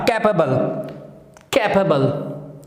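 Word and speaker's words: capable: के बाद आए तो एबल नहीं होता, कैपेबल, अबल, अबल, एबल नहीं, अबल, ओके, अबल, कैपेबल, okay, he इज कैपेबल, okay, कैपेबल, okay, so एबल नहीं कहना, अबल, ठीक है, एबल, अबल कहना है, ठीक है।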